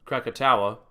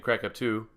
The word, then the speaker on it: Krakatoa: had another volcano eruption Krakatoa I was pronouncing it crack up too but it was Krakatoa so my apologies on